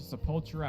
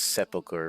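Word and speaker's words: Sepulcher: I did also run over to Sepultura at one point to turn in a quest, which teamed me up to level 19. I'm pretty sure it's supposed to be pronounced sepulchre, right?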